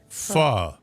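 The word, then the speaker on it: phở: I had no idea that ph is actually pronounced fu.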